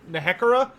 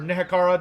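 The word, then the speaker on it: Nehekhara: Ashe using knowledge from Nakara or nekara depending on how you want to pronounce it which is the land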